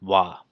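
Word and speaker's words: は: And if you guys do know what this character is, this character is ha. But when it's actually used as a grammar, it is actually pronounced wa.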